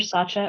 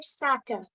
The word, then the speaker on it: Saka: I believe um ma'am is it Sacha or what is your I apologize for not remembering your last name Saka Saka sorry thank you for correcting my pronunciation um so good morning